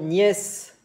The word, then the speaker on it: nièces: Y en plurial, vos neveux, cuidado con X, el plurial, vos neveux, vos nièces, con S que no se dice, para sobrinas.